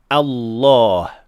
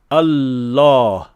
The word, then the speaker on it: الله: اور بہت عام غلطی لفظ جلالہ میں لام مشدد کا درست تلفظ نہ کرنا ہے، نہ مکمل بھاری اور نہ مکمل ہلکا۔ عام طور پر ہم کہتے ہیں الله غلطی اس وقت ہوتی